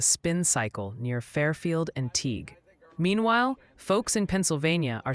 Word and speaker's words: Teague: It's Teague for Teague like league and reading PA.